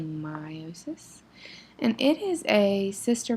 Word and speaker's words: meiosis: This segment of your notes is on meiosis, or gamete cell division. Pay close attention to that word, meiosis. The correct pronunciation, it looks like it might be meiosis, but it is actually meiosis.